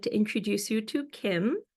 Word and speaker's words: KMB: So I'd like to introduce you to Kim. So it's KMB with a silent B.